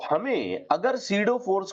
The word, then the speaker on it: pseudo: ऐसे फोर्स को हम सीडो इमेजिनरी ये सीडो सीडो की स्पेलिंग प से शुरू होता है देखो सीडो इसे अगर